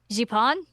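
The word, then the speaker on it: Zipang: A N G and with the accent it's pronounced uh Japon which is not even remotely really subtle that it's supposed to be Japan.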